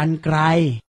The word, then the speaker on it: กรรไกร: รับ เริ่ม จาก คำ ว่า กรรไกร อ่าน ว่า กรรไกร คำ ที่ 2 อ่าน ว่า บรรยาย คำ ที่